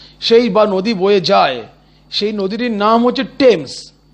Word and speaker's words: Thames: সেই নদীটির নাম হচ্ছে টেমস। উচ্চারণটা টেমস, কিন্তু যখন বানানটা লিখব তখন আমরা মনে মনে উচ্চারণ করব থেমস, THAMES, থেমস।